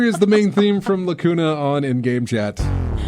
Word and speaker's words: Lacuna: the game and i'm i'm i'm butchering the pronunciation of that it's lacuna um i don't know anything about the game